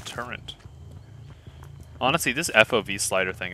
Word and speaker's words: turret: I can understand why people say it like that, but Turrent? Turrent. There's no N! Turrent. The torrential downpour. The turret.